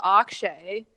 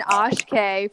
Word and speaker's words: Akshay: Oh, I also noticed, this is kind of random, but Lavana finally learned how to pronounce Akshay. She was saying Ashkay for the longest time.